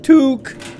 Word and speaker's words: toque: It's a Canadian toque, pronounced toque.